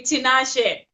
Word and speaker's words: Tinashe: You pronounced it perfectly, Tinashe.